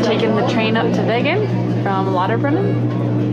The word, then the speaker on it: Wengen: Also, if you're wondering, the W is pronounced with a V sound in German. We just got to Wengen.